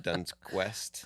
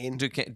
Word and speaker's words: Duquesne: First Duns Quest. What is that school? You don't even know how do you say that. Duquesne.